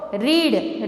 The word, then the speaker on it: read: रीड, रीड यानी पढ़ना, तो रीड का रेड हो जाएगा. क्या होगा? रेड. Pronunciation is रेड but spelling is रीड only. Okay, understood.